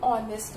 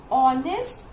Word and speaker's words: honest: Because in both the words this H is silent. Okay, and because the H is silent, so it is giving you the pronunciation of honest and R.